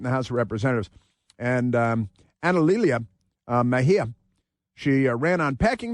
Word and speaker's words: Analilia: Her name is, it's difficult to pronounce because it's Analilia. Analilia is her first name. Analilia Mejia. And she is an anti-American radical leftist. But I just love her first name is A-N-A-L, like anal, and then I-L-I-A.